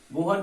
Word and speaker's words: Bohr: okay चलो next, बोर atomic model, बोहर को बोलता है, कोई बोर बोलता है, ठीक है, वो आपके